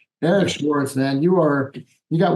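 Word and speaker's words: Eric Shwartz: It's pronounced like a DJ scratch. Eric Schwarz. Eric Schwarz, man, you are you got one hell of a thumbrint.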